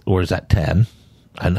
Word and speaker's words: Saw X: X or is that 10 and how do you pronounce that 10 10 it's the 10th one yeah I didn't know